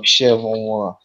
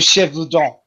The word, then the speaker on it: Gévaudan: The Beast of Chevron. Good luck pronouncing that. The Beast of Chevaudan. There you go.